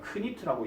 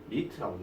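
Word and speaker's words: knit: 크니트라고 얘기하지 않고 니트라고 얘기합니다.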